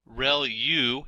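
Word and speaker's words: ReLU: Reu is how that is pronounced and that's the rectified linear unit that has to do with the activation function that's used.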